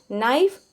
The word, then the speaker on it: knife: Okay, knife, knives, knives, here k is silent, calf, calves, leaf, leaves.